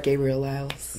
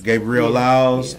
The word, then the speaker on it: Gabrielle Lyles: with Gabrielle Lyles hey hey hey did I pronounce that right Gabriel Lyles Gabriel Lyles and my lady K I don't know your